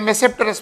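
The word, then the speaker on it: Tmesipteris: और living genre जो है, लिविंग प्लांट जो आजकल अवेलेबल है वो है साइलोटम और मेसेप्टेरस, लेकिन मेसेप्टेरस में ये टी साइलेंट है।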